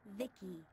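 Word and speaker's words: Vici: dreams by the way I'm v-i-c-i pronounced Vicky my Creator was Bibi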